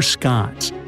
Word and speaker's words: scone: It's time for scones. Now, don't call them scones. Oops, sorry, unless you want to upset the Queen. It's pronounced scone.